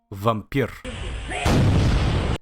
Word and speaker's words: Vampyr: It's pronounced like we do in the Eastern Europe. Vampyr.